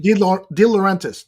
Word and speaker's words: De Laurentiis: How do you know pronounce it? De Laurentiis.